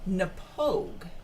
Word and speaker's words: Knappogue: Actually, it's not that difficult to pronounce. To look at the bottle, it looks pretty complicated, but it's called Knappogue.